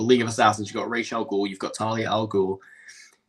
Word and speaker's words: Ra's al Ghul: Assassins, Batman's relationship with Ra's al Ghul, or Ra's Al Ghul, however you want to pronounce it. Personally, I say Raz, but whatever.